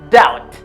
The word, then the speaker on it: doubt: have a doubt doubt the letter B is silent doubt okay yeah I have